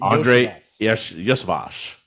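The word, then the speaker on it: Andrei Iosivas: The third Andre Andre Yosvash.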